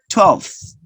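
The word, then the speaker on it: twelfth: to pronounce the th don't forget to pronounce the th 12th 12th and the last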